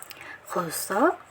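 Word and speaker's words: خ: Kho ini kalau kita lihat dari makhrajnya, kho ini keluar dari tenggorokan bagian atas. Nah, jadi pengucapan huruf kho ini bukan hanya sekedar dari tenggorokan atas, tapi pangkal lidahnya pun harus benar-benar terangkat, karena kho ini termasuk dalam huruf isti'la.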